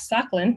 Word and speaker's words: Sakhalin: also off the east coast of Russia, off Sakhalin, that's how you pronounce it, Sakhalin Island.